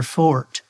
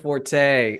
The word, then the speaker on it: forte: particularly good at, and said that was their fort. Oh no, instead of forte.